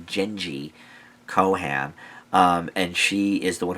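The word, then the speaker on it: Jenji Kohan: It was created by, I think her name is pronounced Genji Kohan.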